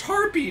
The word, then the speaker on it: harpy: to go high Shake it's pronounced Harpy not herpy I what I said